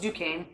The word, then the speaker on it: Duquesne: This is called Duquesne, which looks like Duquesne, but it's pronounced Duquesne.